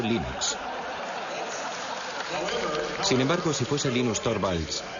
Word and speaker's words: Linux: eso se pronuncia Linux Bueno yo Linux lo pronuncio Linux sin embaro si FES Lin no hayuda de